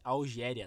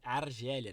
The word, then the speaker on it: Argélia: Eu percebi que no último vídeo no podcast que eu falei Algéria, tá? Mas é porque eu confundo a pronúncia, tá? Eu assisto alguns jogos e tá tendo a Copa de Nações, né? Copa Africana de Nações e tá escrito Algéria. Eu fico falando Algéria, mas é Argélia, né?